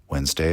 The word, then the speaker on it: Wednesday: god associated with Mars Wednesday is woden's day that's why it has that strange spelling that we pronounce mostly silently and votan was associated